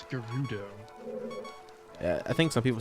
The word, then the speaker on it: Gerudo: 'Cause yeah, I've always said Gerudo with an E. I always said it with a Ru.